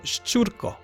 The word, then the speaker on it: Szczurko: So with the knowledge you've given me, I would pronounce this Szczurko, or Szczurko. Yeah, the second one sounded a little bit better.